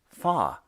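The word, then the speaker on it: 发: eight ba rhymes with the word for Prosperity fa it was such a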